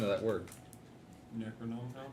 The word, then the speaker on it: Necronomicon: pronunciation of that word? Necronomicon? Necronomicon, there we go.